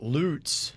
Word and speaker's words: Lutz: somebody had said it's loots i've heard of lots not loots lutz rhymes with putts i don't know let